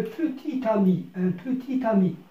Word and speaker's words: petit ami: un petit ami au niveau du français écrit تكتبوا هكذا un petit ami، mais au niveau de l'oral on dit un petit ami.